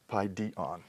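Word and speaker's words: παιδίον: We could compare that with, let's say, another neuter noun, word for child, paidion, and its persistent accent wants to fall on this penultimate syllable, paidion.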